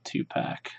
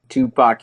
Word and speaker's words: Tupac: Oh yeah, then we have our Tupac. Tupac. Tupac. Oh. In the UK, we're uncivilized and we pronounce PAC pack.